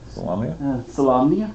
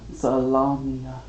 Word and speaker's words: Solamnia: Salamia? Salamnia. Like One day I'll learn to salami?